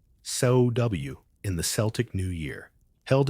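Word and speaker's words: Samhain: We begin with Samhine, pronounced so w in the Celtic new year held at the end of October.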